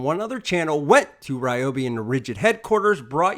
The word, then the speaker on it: Ryobi: It's pronounced Ryobi!